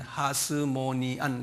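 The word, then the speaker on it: Hasmonean: 하스모니안 그 발음 나는 그냥 저 저기 주전 166년에서 주전 63년까지이 정권은 무슨 정권이냐면 이스라엘 역사 속에서요.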